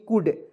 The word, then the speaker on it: could: यहाँ देखिए COULD, कुड, कुल्ड नहीं पढ़ेंगे, कुड पढ़ेंगे, ठीक है, एल को इसमें साइलेंट कर दीजिए, COULD, कुड पढ़ेंगे दोस्तों।